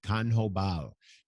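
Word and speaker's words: Q'anjob'al: He speaks a language called Canjobal. It's spelled Q apostrophe ANJOB apostrophe AL."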